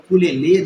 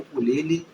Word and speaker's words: ukulele: bem no culele tá Geralmente as pessoas falam o culele né mas a pronúncia correta é o culele e ele tem quatro